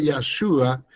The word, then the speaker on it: Yahshua: Dentro del Tanat, transliterado el nombre de Yahshua, que es el mismo que pusieron como Josué, está la forma extendida que se escribe de esta manera, Yahshua. Y la segunda se escribe así. Yahushua.